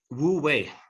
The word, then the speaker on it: Wu Wei: Speaking of, the central teachings of the Analects, tell us about the concept of Wu Wei, if that's even how you pronounce it. Wu Wei.